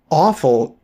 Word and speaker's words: offal: Well, awful is a correct pronunciation of the word that you are pronouncing offal. They're homophones in some dialects.